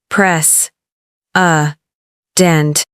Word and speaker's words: precedent: Pronunciation. Press. Dent.